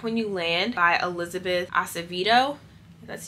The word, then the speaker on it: Acevedo: And then the next book I have is Clap When You Land by Elizabeth Acevedo.